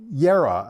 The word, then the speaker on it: JERA: So Yera, I should pronounce it because I believe that's a German name and the J would be pronounced like a an I. Um, Yera and BP are operating